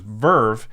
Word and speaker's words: VRV: to you by V R V which is pronounced Verve and Verve is a multi-platform streaming service that's